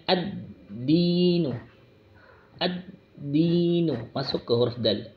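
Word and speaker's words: الدين: Nah, pada alif lam ini alnya tidak dibaca, tidak dianggap. Alif lamnya tidak dianggap, maka langsung membacanya pada huruf setelahnya, yaitu huruf dal. Intinya di sini biasanya diberikan tanda tasydid, tanda tasydidnya. Ada tanda tasydid itu. Nah, yang kecil itu tanda tasydid, maka langsung ditekan atau dimasukkan pada huruf setelahnya, yaitu membacanya ad-dinu.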